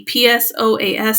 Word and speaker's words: psoas: Or they'll have psoas sign, spelled with a P, P-S-O-A-S, psoas sign, where they have pain extending the right leg.